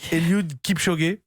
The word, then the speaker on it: Eliud Kipchoge: Il s'appelle, alors vous me corrigerez sur la prononciation, Eliud Kipchoge.